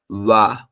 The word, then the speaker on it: は: উচ্চারণ হবে হা কিন্তু যখন বাক্য গঠন করার সময় পার্টিকেল হিসেবে বসবে তখন এর উচ্চারণ হবে ওয়া আর্টিকেলের কাজ হচ্ছে একটি